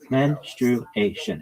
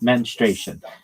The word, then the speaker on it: menstruation: It's menation. It's four syllables, not menration. That's not right.